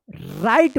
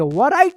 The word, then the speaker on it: write: राइट पढ़ेंगे, वराइट मत पढ़िएगा। और इसका नियम है कि R से पहले अगर W रहता है तो W जो है ना साइलेंट रहता है, इसका कोई उच्चारण नहीं होता है।